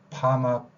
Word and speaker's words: 파마: 일제강점기라는 이야기를 했습니다 그다음에 pal이 퍼머넌트의 줄임 말이긴 한데 이거를 또 어 발음을 하는게 아니라 하로 이렇게 하는게 아니라 파마 파마라고 합니다 자 어 발음이 전부 아로 됐지요 어떤 발음해요 외레 어에서